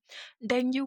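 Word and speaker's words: dengue: Question number 115 बोल रहा है डेंगू fever is transmitted by. डेंगू को आप डेंगी भी बोलते हैं, इसकी राइट प्रोनाउंसिएशन है।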